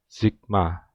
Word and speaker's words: sigma: konstan Oh ya Maaf ini bukan kau ya ini xigmanas Ayah maaf Jadi ini bacanya Sigma ya oke nah eh stefan-boltzmann